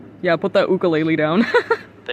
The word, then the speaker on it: ukulele: Oh, it's ukulele, not ukulele. You don't know.